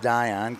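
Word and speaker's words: Dionne: second that was Dion I want to say Dion so bad but that's pronounced Dion Caden Dion d-i-o-n-n-e like Marcel Dion he is their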